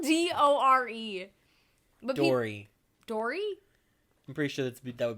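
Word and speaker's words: Dore: They call Door. It was Door. It's spelled D-O-R-E. But Dory. Dory?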